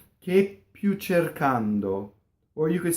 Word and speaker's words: cercando: The reason for that is we don't want the first syllable to rhyme with chair in English, right? Cercando, that's what English speakers will do. It's che, E, A, O. Cercando.